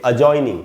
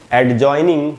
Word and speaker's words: adjoining: यहाँ पर भी चूंकि जे के पहले डी है, इसीलिए यहाँ पर डी साइलेंट होगा और इसको एडजॉइनिंग नहीं पढ़ना चाहिए, जैसा कि सब लोग पढ़ते हैं।